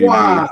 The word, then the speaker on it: Waaagh: shout this Just army Waaagh. rule. You don't pronounce the G. Do you not? No. Okay. Although apparently you have to now. You've got to pronounce it Waaagh now.